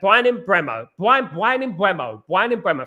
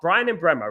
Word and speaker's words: Mbeumo: In regards to Bryan Mbeumo, I believe that Bryan Mbeumo, thank God I could pronounce my R's, Bryan Mbeumo, right?